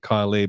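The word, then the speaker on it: Kylea: seen kylia Tink gone I know she pronounces it Kylie but if you spell your name k y l EA I'm going to call you kyia she's gone uh there's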